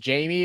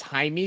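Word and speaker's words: Jaime: Uh uh I don't know if it's pronounced Jamie or if it or if it's Haimey because I think it should be pronounced Haimey. Uh Jquz Jquz.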